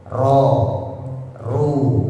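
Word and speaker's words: ر: Kalau tarkik nama lainnya muraqab ya sama aja ro dibaca tebal kalau dia berharakat fathah atau berharakat domah. Ro ru. Nah, itu dibaca tebal.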